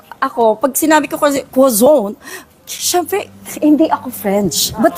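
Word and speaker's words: croissant: yun kaya let's say ako pag sinabi ko quazon syempre hindi ako French but that's the actual pronunciation of quazon yung May ganon pag ako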